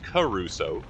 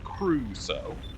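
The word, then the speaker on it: Crusoe: Cru Cruso. Two syllables, not Caruso. Cruso.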